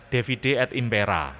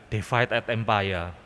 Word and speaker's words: divide et impera: Setelah saya masuk ke seminari, diajar bahasa Latin, ternyata bacanya divide et impera, ya, bukan divide et empire, dibaca apa adanya, divide et impera.